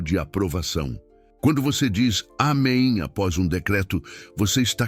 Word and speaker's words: amém: Ela dizia amém, com ênfase na última sílaba.